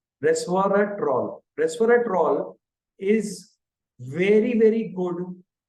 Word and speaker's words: Resveratrol: which is called as Reser trol R retroll sorry I told it in the the pronunciation was wrong Resveratrol Resveratrol is very very